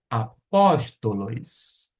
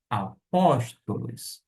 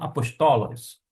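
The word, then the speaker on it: ἀπόστολος: Apóstolos. Apóstolos. Por que eu pronuncio desta maneira? A sílaba tônica se encontra aqui. Apóstolos, e não apostolos.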